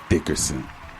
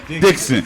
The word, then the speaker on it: Dickson: must give it up for this man terence dickerson is the dickens or dickinson dad say dixon i didn't say your name wrong i gave you all that great intro